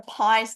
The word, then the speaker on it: pi: Where did the pies get in? Why does Judy-Ann and Tom want to feed us pies today? Well, it's a homophone in English. They sound the same.